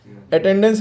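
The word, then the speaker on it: attendance: अटेंडेंस की spelling बहुत से लोग कहते हैं ये सही है, अटेंडेंस DENCE, गलत है। बल्कि सही स्पेलिंग अटेंडेंस की क्या है, अटेंडांस, DANCE, डांस लिखते हैं, अटेंडेंस पढ़ते हैं, ठीक है।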